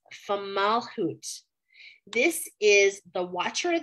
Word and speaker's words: Fomalhaut: It's called formaldehyde, that is not right. It's Fomalhaut.